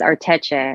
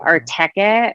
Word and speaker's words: Arteche: I think it's Arteche, but I used to say Arteke, which is wrong.